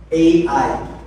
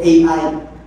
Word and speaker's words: Ai: ai si II yan depende na sa pronunciation niyo High pagk Tagalog It's ai sa tagalog pero sa akin ai or i ah lungsod po yan